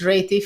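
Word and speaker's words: Réti: Is it Reti? How do you pronounce it? I don't know. It's Reti for me. The Hungarian way of saying it.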